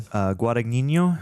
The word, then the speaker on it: Guadagnino: Guadagnino.